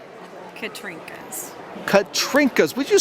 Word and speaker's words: Katrinkas: you what is your professional frame adorning name katrinkas katrinkas would you spell that for are are illiterate people such as